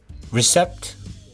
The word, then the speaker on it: receipt: receipt, receipt. P가 묵음입니다. receipt입니다.